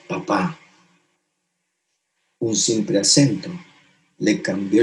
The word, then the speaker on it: papá: Y nos decía, si tú pones un acento en la última letra de la palabra papá, su significado cambia. Y ahora es papá.